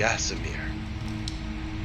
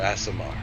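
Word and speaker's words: Aasimar: think of would be the asmir or ASMR depending on how you pronounce that a a s i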